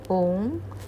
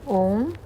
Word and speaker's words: Om: Om escreve-se corretamente com 3 letras. A primeira significa Brahman, a segunda Vishnu, e a terceira, que se deve pronunciar como um Hum, levemente alongado, Shiva. O tríplice Om é, por esse motivo,